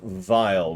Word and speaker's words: Vile: gate you notice that i'm referring to him as vile with kind of a v sound there's two reasons for that one that's automatically how i pronounce that kind of a name in general and two that's a kind of a common thing because his original name in the japanese version is lord file with a v they renamed